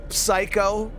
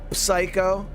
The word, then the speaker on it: psycho: unnatural and jarring looking oh with the silent P so would it make me weird if I was like psycho psycho maybe that's what I